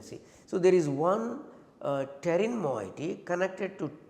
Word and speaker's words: pterin: Okay, this is, I will write down here so that you will, P is silent, pterin.